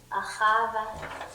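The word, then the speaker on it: אהבה: Ahava. Ahava. How do you spell that, Hadassah?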